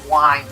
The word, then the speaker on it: wind: I said wind around. Yeah, this level's pronounced wind, like winding up a toy, or something like that, winding up a clock.